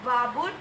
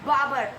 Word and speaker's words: Babur: shouldn't kill anyone and i'm sorry for the wrong pronunciation of baboon it's barber okay so let's get